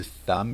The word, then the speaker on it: thumb: So the B in there is silent. We don't say thumb, it's thumb. Thumb your nose.